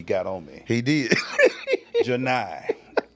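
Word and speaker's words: Johni: Janai. Not Johnny. Not Johnny. It's Janai.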